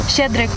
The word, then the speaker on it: Щедрик: How do you pronounce this, by the way? Shchedryk.